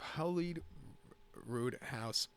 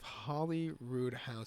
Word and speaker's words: Holyroodhouse: is the house of holly need rude house steaks I always mispronounce that race name wrong excuse me it's the Palace of Holly Rood house Stakes handicap it's Class